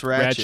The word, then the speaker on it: Ratched: It's Ratched.